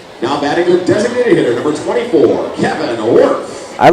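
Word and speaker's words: Wirth: Although the word that they are singing about is spelled differently than his last name. Baby, I'm Worth It. As Kevin Worth, W-I-R-T-H, steps in.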